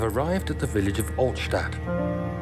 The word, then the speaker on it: Altstadt: So it's Altstadt. That's good to know. I was close. Just didn't know the precise pronunciation.